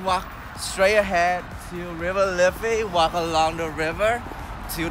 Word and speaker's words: Liffey: Yeah, Liffey.